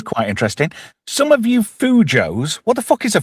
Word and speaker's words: fujo: Some of you Fujos, what the fuck is a Fujo? Does anybody know? It rhymes with Cujo, which is a big St.